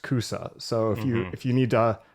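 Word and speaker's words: 草: And there is a Chinese character, a kanji character loaned into Japanese for grass that is pronounced kusa.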